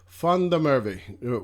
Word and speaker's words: Izak van der Merwe: told me it was funny murphy so izak fundamerve one of my best players for sure how